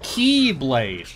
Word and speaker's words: X-Blade: you see it's pronounced keyblade get it because it's like the Greek letter which looks like an X but it's pronounced key or Kai could be playing Kingdom